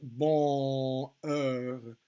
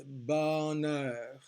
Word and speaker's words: bonheur: It's fine, but what it is not is bonheur. No, it's bonheur, bonheur. Okay, so we will say the N in that word. Monsieur, we're still not pronouncing the N, but the the vowel sound is not nasalized.